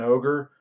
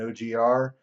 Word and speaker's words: OGR: libraries especially this one called Google and ogre or some people say gee dal and og are you can pronounce it however you'd like we'll have a midterm